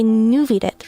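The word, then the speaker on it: Neuvillette: Uh, I think I say Novelt because I've heard that's how you would pronounce it in French, but I know in Japanese they say Nuvid, right?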